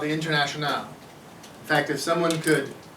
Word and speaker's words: Internationale: That's a sort of a Frenchified version of that's how you pronounce it, the Internationale.